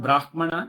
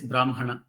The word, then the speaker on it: Brahman: so it is not Brahman it is Brahman it is not Brahma but it is Brahma Makara should be pronounced first nakara should be pronounced